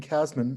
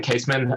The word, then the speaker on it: Kasman: Kasman, I hope I'm pronouncing your name correctly, from TRPA, when you're ready. Yeah, actually, it's Caseman, and I'm the Research